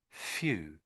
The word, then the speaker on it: few: So it's starts with an F clearly and it's few. Sort of an ooh sort of sound. Few. Let's listen to the say it. Few. Few. So really it sounds like there an F sound and then she's sort of saying the letter U, isn't she? F you.